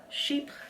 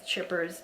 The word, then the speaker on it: Chypre: these are the uh sheep sandals and I'm pretty sure that's how you pronounce it cuz everybody like I like I don't think it's chippers but pretty sure it's called Sheep so the sandals now as